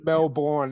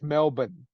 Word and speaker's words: Melbourne: actors that's a Melbourne it's not Melbourne it's Melbourne or Brisbane it's Brisbane you know what I